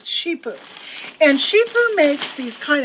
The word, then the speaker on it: CiPU: by the company that's that's cipu and it's pronounced sheepo not SEO it's sheepo and sheepo makes these kind of high-end really